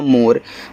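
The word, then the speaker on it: more: देखो जब ओ के बाद एक लेटर छोड़ करके ई दिया रहे तो ओ का उच्चारण ओ की मात्रा के रूप में होगा, तो यहाँ पे ओ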